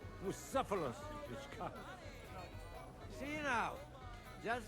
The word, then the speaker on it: Bucephalus: What kind of name is Bucephilus, anyway? It's pronounced Bucephalus.